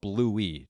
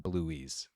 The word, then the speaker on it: Bluey: It's called Bluey, not Bluey's. Bluey's Yeah, is my you always mispronounce Bluey.